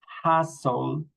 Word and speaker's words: hassle: And we pronounce similarly, castle, hassle, nestle, okay? Castle, hustle, nestle, okay? Remember, we don't pronounce the T.